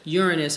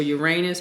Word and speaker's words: Uranus: Uranus or Uranus, however you want to pronounce it, it's about immediate change.